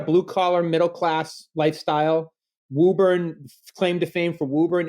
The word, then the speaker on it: Woburn: Did I pronounce that right? Woburn? Woburn.